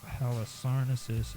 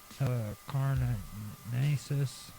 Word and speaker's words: Halicarnassus: And Dionysius of Halicarnassus is spelled Dionysius, Dionysius, and Halicarnassus, which is really hard to pronounce, is Halicarnassus.